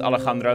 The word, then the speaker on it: Alejandro: I'm going to go with Alejandro. That's the European Spanish pronunciation.